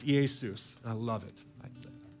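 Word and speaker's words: Ἰησοῦς: If you take Jesus' name in Greek, it's Iesus. I love it. It's just a more fun name to say, Iesus, okay? It's spelled like this.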